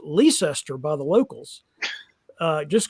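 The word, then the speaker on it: Leicester: in North Carolina named after that which is pronounced leester by the locals uh just go just like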